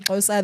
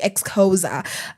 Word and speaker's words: Xhosa: And instead of saying Xhosa, they'll be like, I speak ex-Xhosa as a joke because wazungu, uko wenye wako wanajua kupronounce, walikuwa wamesema ex-Xhosa.